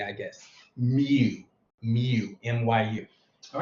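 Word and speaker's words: mu: right and it's pronounced myu me kind of like what a British cow would say I guess Mew Mew myu all right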